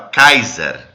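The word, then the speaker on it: Caesar: nem você não falava eh Cesar você falava kaisar aí daí que vem a o nome kaisar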